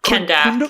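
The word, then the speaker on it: Kahndaq: Africa, Middle East, maybe Persian Gulf areas called Kunduk, I think is how you pronounce it. Kunduk, yeah.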